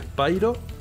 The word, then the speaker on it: Spyro: Sé que se llama Spyro, se pronuncia Spyro, pero cuando llego aquí a España, todo el mundo le decíamos Spiro. Así que Spiro va a ser.